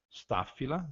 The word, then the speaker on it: Staphyla: O encontro do dígrafo PH, nós vamos pronunciar também com o fonema F, Staphyla, né?